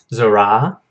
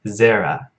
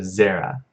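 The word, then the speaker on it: זרע: Zorah means seed or descendants. And notice that it is a collective noun. Zorah, and the accent is on the first syllable, so it's not, so,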